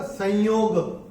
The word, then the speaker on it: संयोग: और ये जो स के ऊपर जो अनुस्वार आ रहा है, वो अनुस्वार का उच्चारण अगर हम नियम के हिसाब से देखेंगे तो यह आ रहा है उसके बाद, तो उसका उच्चारण होना चाहिए म। और अगर आपने नोट किया हो मैंने कैसे चैंट किया था? संयोग। ओके, तो संयोग जो मैंने चैंट किया था वो भी सही है।